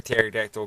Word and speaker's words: pterodactyl: Why can't you hear a pterodactyl go to the toilet? Because the P is silent.